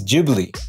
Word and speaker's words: Ghibli: It's called a Ghibli wind. But the way Hayao Miyazaki pronounces his studio name, it's Ghibli.